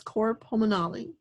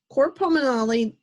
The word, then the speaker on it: cor pulmonale: to the next topic i've heard this pronounced many different ways but i'm going to say it as core pulmonale heart and lungs the